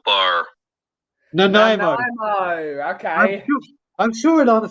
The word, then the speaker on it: Nanaimo: Brian, you pronounce it Nanaimo bar. Nanaimo.